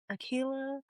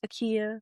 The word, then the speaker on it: A'keyah: So I'm just like, "Okay, I don't really care if like it's first interaction you're like Akila, Akaya." I'll be like, "Oh, it's Akia."